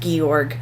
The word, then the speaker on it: Georg: and Georgie yeah and in the original it's pronounced gorg yeah um so on